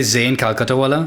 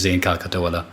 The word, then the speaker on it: Zain Calcuttawala: What is the pronunciation that we need to default to here? Well, I normally just say Zain Calcuttawala.